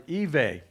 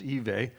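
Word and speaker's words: Ewe: most numerous are the evei that's spelled like you but it's evey they make up about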